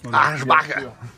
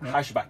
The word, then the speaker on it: Aschbach: Aschbach, alors tu l'as mal prononcé, c'est Aschbach.